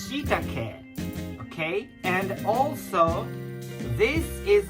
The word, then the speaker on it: shiitake: And this is not shiitake. This is shiitake.